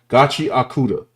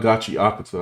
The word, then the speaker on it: Gachiakuta: Skull says the correct pronunciation is Gachi Auda. So, it's Gachi. If I Let me know if I have that right. Gotchi akuda, not Gachi Akata.